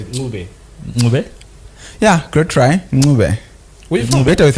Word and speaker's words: Ncube: Our guest today, Dumisani Ncube. Did I pronounce that correctly? No, good try. Listen how you said Ncube. Ncube? Yeah, good try. Ncube.